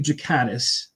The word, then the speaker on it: Ghikadis: But uh yeah know it's Jakatis. It's a it's a soft G.